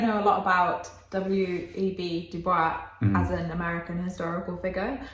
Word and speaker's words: Du Bois: And I think it is pronounced Du Bois. Oh, not, which I know the proper French way of saying it would be Du Bois, but Okay. but yeah, apparently he actually pronounced it Du Bois, Okay.